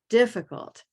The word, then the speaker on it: difficult: difficult but it's not it is definitely here in the first syllable difficult silver pinned difficult great